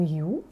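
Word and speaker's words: HU: Alors moi, j'utilise le son You, qui OK. s'écrit H-U, il se prononce You, jusqu'au bout du souffle.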